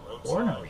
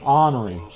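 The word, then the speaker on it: ornery: Orary. Honory. Horriy. No. It's It's pronounced honory. No, it says right here pronounced o r- n uh- re e. Orary.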